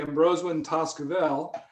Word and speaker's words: Embrosewyn Tazkuvel: full name would be ambrose when toskavel and each one of those sound syllables m rose win vel each one has a